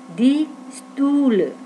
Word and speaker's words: Stühle: Der Stuhl, die Stühle, agak panjang dan monyong, die Stühle.